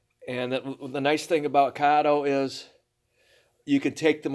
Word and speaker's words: Kato: modeling HO scale kado it's pronounced kado not KO well the very first